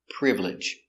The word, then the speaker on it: privilege: good next word is privilege with privilege we see the I is silent we don't say privilege we say privilege privilege is countable you